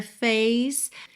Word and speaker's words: face: Now then, when I see her face. Aqui é importante lembrar que esse é de face é mudo, assim como é de place.